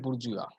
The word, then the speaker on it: bourgeois: Proletariat and bourgeois. This is how it is spelled, but it is pronounced the way I pronounced it. Say, everyone say it. Bourgeois.